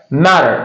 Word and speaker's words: matter: Double T in the middle of this word make the sound D matter in British I'm sorry in American accent.